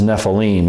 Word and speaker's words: Nephilim: The plural form is Nephilim. It's the I-M at the end sound, the eem sound at the end, that's plural.